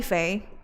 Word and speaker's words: Fei: My name is pronounced. But so many people or you can call me Fay.